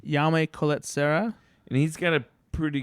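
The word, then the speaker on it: Jaume Collet-Serra: And the director of this, how do you pronounce his name? Yame Colette Serra.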